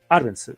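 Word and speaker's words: Árbenz: este fue derrocado el gobierno de Jacobo arens arens se pronuncia así no bueno Jacobo arens Sí sí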